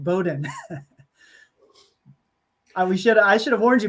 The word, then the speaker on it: Bowdoin: It's a really tricky one, but it's pronounced Bowdoin.